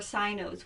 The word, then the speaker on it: Sino: Or Sino's voice. It's pronounced Sino.